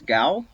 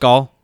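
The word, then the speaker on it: Ghaul: The G-O-U-L? No, G-H-A-U-L. it's G-H-A-U-L, so I feel like the H is probably silent. Okay, yeah. No. Gal was it's probably Dominus right. Gall. It's probably Dominus Gall.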